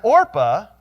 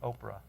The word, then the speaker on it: Orpah: On her birth certificate, her real name is Orpah, named after this character, but nobody could pronounce it, and so she became Oprah.